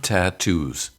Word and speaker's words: tattoo: That's why tattoo has two aspirated T's. The first one because T is the first sound in the word,